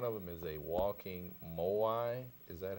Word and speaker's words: moai: project but one of them is a walking more why is that how you pronounce it yeah can you tell us what